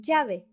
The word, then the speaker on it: llave: It's pronounced Y plus vowel, like in llave, key, or my hometown, Sevilla. M, exactly the same as in English, like mama, that is mommy.